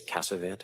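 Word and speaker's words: Casavant: My last name is Cavant. It's spelled C A S A V A N T.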